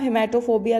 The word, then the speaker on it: haematophobia: हीमोग्लोबिन आपने सुना होगा, उसी से आप हिमैटोफोबिया लर्न करिए। HAE ही मैटो, MATO, हिमैटोफोबिया। HAEMATOPHOBIA, हिमैटोफोबिया। इसमें जो A है वो साइलेंट है, ठीक है।